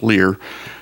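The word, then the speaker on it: Leher: It's spelled L-E-H-E-R, but it's pronounced Lear.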